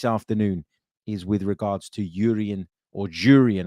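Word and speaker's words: Jurriën: is with regards to Jurrien, I should say, Timber, after he confirmed that you should pronounce the J.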